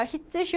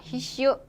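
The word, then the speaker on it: 必須: 히츠슈 아니고 뭐라고요? 히슈.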